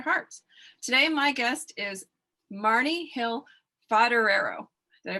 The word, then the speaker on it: Marni Hill Foderaro: Today, my guest is Marni Hill Foderaro. Did I pronounce it right this time?